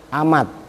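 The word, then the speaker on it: أمة: tahu wall ammatoa dan amat tulisannya seperti umat Tapi bacanya amat kalau abdun diperhatiin Abdul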